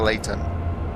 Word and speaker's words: Leighton: Leighton, Ley. But then you've got Leighton in East London, which is Leyton, and this is Leighton.